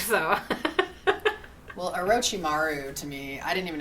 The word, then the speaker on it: Orochimaru: um we finally meet Orochimaru yeah I'm pretty sure because I've heard other people say Orochimaru I'm pretty sure that's how they say it in the dub I just kind of